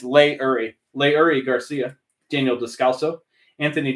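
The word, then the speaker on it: Leury: By the way, I pronounce this Lurie. It's Lay-Uri.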